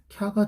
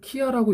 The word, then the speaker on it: きゃ: 우리나라 발음으로 한번 해보면 키에다가 더하기 야 한 발음으로 하면 뭐가 된다 캬가 돼요 그죠 이거를 키아라고 읽으면 안 돼요 키아는 이렇게 쓰는 거잖아요 그래서 기아가 아니고 4라는